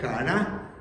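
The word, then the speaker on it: χαρά: Y en este versículo, hermanos, la palabra que se traduce como gozo viene del griego jará, así como se oye. J a r a y acento en la última jará, el cual es más que un sentimiento de alegría, hermanos.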